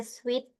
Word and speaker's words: suit: Jadi cara baca suite ini i-nya di silent aja.